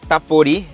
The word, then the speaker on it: Htapodi: Next one is tapori with a silent H.